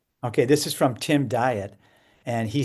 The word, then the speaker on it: Dyet: Sincerely, Tim Diet. And he says his last name is pronounced diet, but it's spelled dye t.